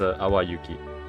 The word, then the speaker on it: Awayuki: This here is pronounced Awayuki. Awayuki. So Awa, like this, Awayuki.